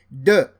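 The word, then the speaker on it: deux: You say de. You see the transcription de. So the X here is not pronounced. Trois.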